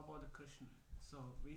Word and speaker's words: Krishna: What's the best to Krishna. Krishna. Krishna. Krishna is the pronunciation.